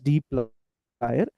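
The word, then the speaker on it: dplyr: This is pronounced as dlier.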